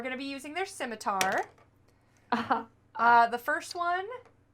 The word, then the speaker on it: scimitar: So they are going to be using their scimitar. The first one. Actually, it's pronounced skimiter.